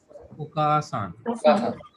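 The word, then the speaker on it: お母さん: हा हा, एंड somebody else mother, Okasan. ओकासान। इसमें Abrishan it will pronounce like Okasan or Okasan.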